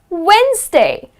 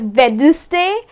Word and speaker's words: Wednesday: the week which is wednesday so many people make this mistake they end up pronouncing it as vendors day well it's not bed Tuesday it is Wednesday you know something like